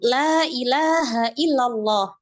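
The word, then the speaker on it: لا إله إلا الله: Pada lafaz la ilaha illallah. Nah, di situ di situ ada mat ya. Ada mat. Maka kita harus membaca dengan mat, dengan panjang.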